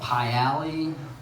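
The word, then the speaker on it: Pi Alley: There's the Pie Alley. Which is they used to sell pies there. That's why it's called that. It's spelled P-I, but it's after the food pie.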